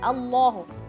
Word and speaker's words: Allah: Misalnya kita baca Allahu, bacanya Allah, enggak O, dia bacanya A.